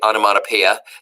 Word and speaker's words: onomatopoeia: Matt oh uh yeah it's actually onomatopoeia that's how you say it uh no motto